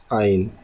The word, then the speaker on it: ع: Okay, let me tell you that Ain is pronounced from the depth of the throat.